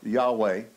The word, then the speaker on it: Yahweh: or better the yhwh it's it's not pronounceable we pronounce it jehovah or yahweh um based on which which school of thought the dramatic line of languages